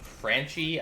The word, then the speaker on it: Franchi: since 1979 through present the designer is franch franchi I believe is how you pronounce it again it's an Italian company design